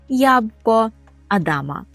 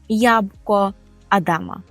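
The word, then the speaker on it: jabłko Adama: ж адамове яблуко і то по порску ест ябко Адама ябко Адама дослівно яблуко Адама і вже Останнє слово яке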